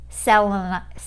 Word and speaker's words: Selenite: Someone told me to buy, I said it wrong in one of my videos, but this is Selenite.